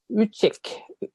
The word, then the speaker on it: Ülic: I'm here with Martin Richie did i pronounce it perfectly well thank you yeah like in chicken oh and we're actually